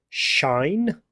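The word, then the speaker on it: sinh: This one here, different people pronounce it in different ways. You've got people who'll say shine, like something that's shiny.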